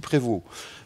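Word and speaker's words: Prevost: Alors je le prononce à la française parce que je suis un homme du nord et Prévu c'est un homme un nom très courant chez nous et on dit Prévu.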